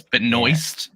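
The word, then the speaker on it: Benoist: moistly I know like you want to say Beno benwa she she said in interviews it's Beno yeah yeah she doesn't pronounce it the correct way that we do back in Louisiana so but um she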